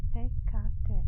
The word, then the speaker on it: Hecate: Hecate, no, has 3 syllables.